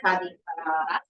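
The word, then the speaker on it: Ca' di Frara: Actually comes from Casa Ferrari, the name of the town, but in local dialect here, they say Cadi Ferrara.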